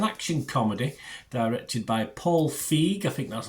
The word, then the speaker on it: Feig: We're going over to Amazon today, and yes, an action comedy directed by Paul Feig. I think that's how you pronounce it, F-E-I-G.